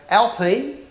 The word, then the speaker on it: Alpine: yeah thank you it's it's the chronic correct pronunciation is it's a alpine a110 premier edition so back in 1955 was